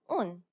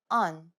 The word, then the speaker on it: اون: First we had un, which means that. It's the more natural pronunciation of on.